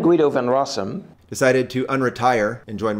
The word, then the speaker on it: Guido van Rossum: bdfl emeritus of python guido van rossum using my american english pronunciation i am guido van rossum decided to unretire and